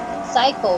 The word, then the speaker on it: Sayco: And his last name is spelled as Sayco if you're just hearing this right now. We're not calling him a psycho. His name is Voltaire Psycho, okay?